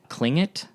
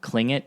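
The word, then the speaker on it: Tlingit: do so apparently the klling it even though it's spelled with a T it's pronounced with a K I guess fascinating um klling it is a a certain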